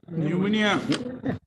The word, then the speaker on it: pneumonia: Pneumonia. Pneumonia, yes, It my lord. starts with P, but P is silent.